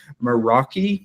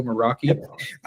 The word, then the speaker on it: Meraki: He's a security engineer at Cisco Meraki, I believe is how you say that, Cisco Meraki.